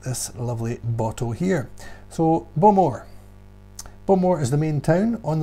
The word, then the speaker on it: Bowmore: I would used to have called that Bowmore, but it's Bowmore. A little bit quicker, Bowmore.